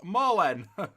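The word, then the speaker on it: Malen: be an idiot but mail n is pronounced Marlin bummed that you're not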